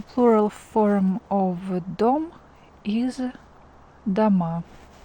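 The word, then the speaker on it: дома: like this the plural form of Dom is dama d ma and the a here is stressed or is not stressed so we pronounce it like the ma d ma one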